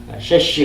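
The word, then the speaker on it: שש: 라고 여섯째 말을 그렇게 쓴단 말입니다. 셰시 그렇게 발음해요.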